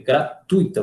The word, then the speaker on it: gratuita: construção tá incorreta tá é gratuita você pronuncia esse uma e esse aqui em um ditongo não hiato tá até mesmo porque